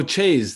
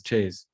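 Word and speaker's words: chaise: don't know so oh chase that's what it is chase i think that sounds right chase okay guys i think in french you pronounce the consonants if there's vowels after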